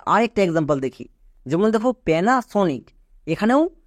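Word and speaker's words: Panasonic: চলো এবার উচ্চারণ করো পি এন এ পেনা next S ও এন আই সি সনিক পুরোটা কি হলো পেনাসনিক এবার এখান থেকে বুঝতে পারছো এ শব্দের শুরুতে পড়লো তাই এর জন্য জো ফলা আকা এ হলো এবং এখানে দেখো এ শব্দের মাঝে আছে তাই এর জন্য আকার রয়েছে যেমন প্যানা সনিক এই ট্রিক্সটা খুব ইম্পর্টেন্ট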